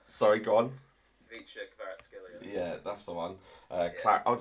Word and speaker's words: Kvaratskhelia: Vicha Kvaratskhelia. Sorry, go on. Vicha Kvaratskhelia.